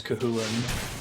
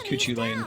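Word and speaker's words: Cú Chulainn: Man, thank you Twitch for teaching me how to pronounce Kahulin. I thought it was Kuchulain for the longest time, seeing it in other games.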